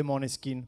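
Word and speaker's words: Måneskin: ho scritto a Vittoria chiedendole come voleva che pronunciassimo il nome. Quindi ho questo audio in cui dice per favore di' Moneskin se puoi dire Moneskin, che poi Maneskin va bene anche ma forse no no non che sia Moneskin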